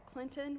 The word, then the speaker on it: Clinton: middle of nowhere called Clinton where the tea is silent and the tea is